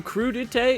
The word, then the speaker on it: crudité: Crudité? Some chopped vegetables, and we'll see what that's all about. If you're new and you don't know crudité, is that really how you say it?